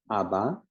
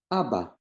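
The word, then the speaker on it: אבא: The first one is Abba, which is dad or father. It has A sound underneath the Alef, A sound underneath the Bet, and Alef at the end, and it sounds like Abba, Abba.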